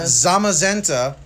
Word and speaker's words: Zamazenta: We've got these two Sobble Galar collections with the, what is the how do you pronounce his name? Zacian? Zacian? Or Zacian? Zacian, Zacian. And we got Zamazenta.